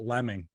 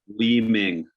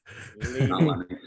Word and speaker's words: Leeming: So do you want to pronounce it properly then? So everybody gets a gist of it? Leaming. Yeah. Leaming.